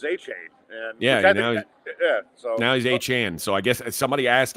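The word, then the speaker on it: Achane: How did A-Chain become A-Chan when he got to the pros? A-Chan, somebody asked him, and he said, "That's how you say my name."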